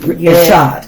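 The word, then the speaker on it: echad: ishad in the hebrew okay uh amen which is spelled e c h a d assad yes oneness and so let's take a look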